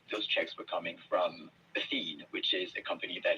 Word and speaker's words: Athene: Athene, yeah.